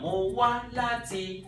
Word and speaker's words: Mo wá láti: Mo wá láti. Mo, neutral, nothing there. Wá, up. La, up. Ti, neutral. Alright?